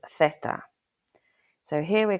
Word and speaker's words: zeta: The letter Z in Spanish is called zeta. The English pronunciation is that this letter usually sounds like the English letter S.